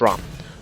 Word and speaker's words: Rama: Uh, I'm actually going to play Rama. Uh, or Rom. I'm so used to saying that at that, but it's actually pronounced Rom.